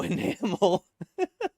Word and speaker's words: enamel: through flesh and bone so enamel caramel yeah that was closed enamel you know my brain only works with seo it rhymes with caramel kind of enamel has a mel in it nice animal up melanie